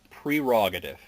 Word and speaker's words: prerogative: It's prerogative. Really? Look at the first three letters. P-R-E. Okay. There's no P-E-R. And that is another one that is so commonly said wrong that most people spell it wrong.